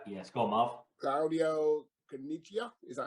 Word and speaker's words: Caniggia: Claudio Caniggia? Is that how you pronounce it? Caniggia?